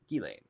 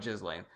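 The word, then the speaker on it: Ghislaine: East meets Wesy Bessie says it's French and proper pronunciation is gain no s long e gain galain gain gain all right gain gilane I still like jizzlain Emily in the state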